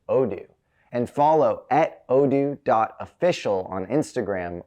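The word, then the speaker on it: Odoo: That's odo pronounced odo.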